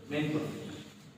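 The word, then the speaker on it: mesne profit: বলছিলাম এসটা উচ্চারণ হবে না ম্যাক্সিমাম প্রফিট এটা উচ্চারণ হবে মেইন প্রফিট এই মেইন প্রফিট মানে হলো প্রফিটস আর্ন ফ্রম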